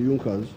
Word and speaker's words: Junkers: the junckers it's written in junkers but it's pronounced as the yonkers in the german kingdom of prussia one of